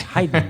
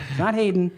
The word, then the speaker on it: Haydn: It's Haydn. It's not Haydn.